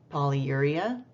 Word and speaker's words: polyuria: I'm just going to pronounce these for you. Polyuria, pyelonephritis, ureterorrhagia, extracorporeal shockwave lithotripsy.